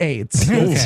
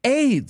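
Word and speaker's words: Ayds: that yeah that's right podcast listener you heard me correctly Aid spelled a y DS oh it's spelled different okay we all felt stupid but that fixes it it uh really was pronounced that way I I I know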